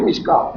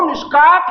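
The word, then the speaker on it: مشکوٰۃ: تو وہ بھی مشکات، لکھنے میں اگر کاف واو تے آیا ہے تو پڑھنے میں نہیں ہوتا۔ جس طرح صلاۃ بھی صاد لام واو تے ہے لیکن تلفظ میں صلاۃ ہے، زکوٰۃ زا کاف واو تے ہے لیکن تلفظ میں زکوت نہیں ہے، زکوٰۃ ہے۔ اسی طرح میم شین کاف واو تے ہے تو وہ مشکات ہے۔ تب چڑھا تو نہیں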